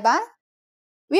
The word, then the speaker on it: baht: how we could answer this question by counting baht in Thai In Thailand the currency is called baht Please pay attention to this word's pronunciation.